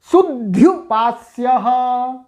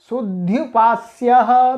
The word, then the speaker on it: शुद्ध्युपास्यः: जब एक द का भी उच्चारण होगा तो थोड़ा सा जोर लगाना पड़ेगा, शुद्ध्युपास्यः, और जब द्वित्व नहीं होगा तब शुद्ध्युपास्यः। तो ये दोनों प्रकार के प्रयोग साधु हैं।